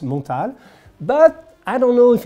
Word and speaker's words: Montale: the creator is piermontal so it is french it's pronounced montal but i don't know if in their marketing they want to to pronounce it montale i don't know but